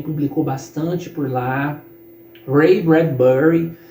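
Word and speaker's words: Bradbury: bastante por lá Ray bradberry Ray bradberry que é pronúncia correta eu aprendi que a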